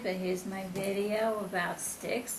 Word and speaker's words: Styx: It is Styx, I've checked on, that's the pronunciation.